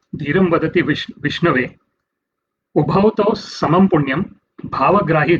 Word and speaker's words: Vishnave: sometimes someone might mispronounce, like actually it's Om Vishnave Namaha, but sometimes someone might say Om Vishnaya Namaha. Instead of saying Vishnave Namaha, someone would say Vishnaya Namaha, because one does not understand the grammatical constructs of Sanskrit.